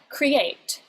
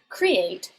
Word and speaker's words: create: if you say uh create you're going to put the stress on the second syllable because if you said create you'd be saying it